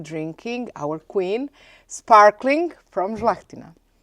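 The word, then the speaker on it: Žlahtina: Our main and most important variety is Zlahtina. Zlahtina? Zlahtina right or wine queen of Quarner.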